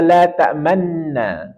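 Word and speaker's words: تَأْمَنَّا: yaitu Yusuf ayat 11 perhatikan pada kata la tamanna secara umum kita akan membaca la tamanna tetapi dalam ayat ini ada namanya bacaan ismam jadi kita monyongkan bibir di nunnya ini la man man man jadi kita e monyongkan bibir la Manna Jadi kalau tiga apa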